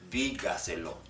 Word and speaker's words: dígaselo: If it has 4 syllables, if it's a 4-syllable word, then it will be stressed on the 4th from last syllable. Dígaselo, dígaselo.